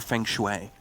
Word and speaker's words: feng shui: Maybe he's trying to make it more feng shui. Is that how you say it? I think it is, right? What? Feng shui? You don't know? Yeah, feng shui.